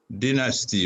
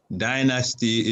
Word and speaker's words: dynasty: hear that uh the song called dynasty or as the americans say dynasty is ruling in turkey